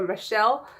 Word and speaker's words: Mizelle: So today I want to give a shout out to, I want to say her name is pronounced Mizelle. It's spelled M-I-Z-E-L-L-E, Mizelle or Michelle, for the topic that I'm going to talk about today.